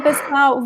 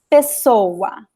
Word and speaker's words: pessoa: So most of the words that you see like 2 vowels at the end of the word, the stressed syllable in the stressed letter is the second to last vowel, as in this word.